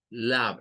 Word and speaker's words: love: sabemos que significa amor ahora la e no suena pero Miren esta o suena como la v al final lab es curioso verdad ver